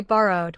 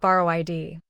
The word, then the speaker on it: borrowed: Borrow ends with a voiced r sound, so the ending is d. Say borrowed with two written syllables, but one short d ending, not borrow id.